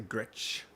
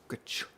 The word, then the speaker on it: Gretsch: So yeah, I think I'm pronouncing it right when I say Gretsch. Gretsch. I think ch. Like that's the SCH. I think of like Schumacher, Michael Schumacher.